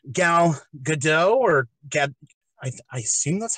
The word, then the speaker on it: Gadot: I mean, especially when you consider how Gal Gadot or Gad, I assume that's how you pronounce her last name. Gadot. Yeah, Gadot.